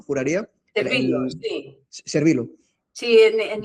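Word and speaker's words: Servillo: se llamaba el bueno, el actor es Tony Servillano, juraría. Servilo, sí, Servilo, sí, en en Italia, Servo, o sea, como una pronunciación.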